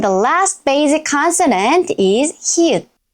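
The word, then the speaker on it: 히읗: And the last basic consonant is hi-eut. Its name is hi-eut, hi-eut.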